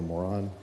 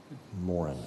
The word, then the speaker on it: Moran: Moran. Is that how you pronounce it? Moran? Moran. Okay.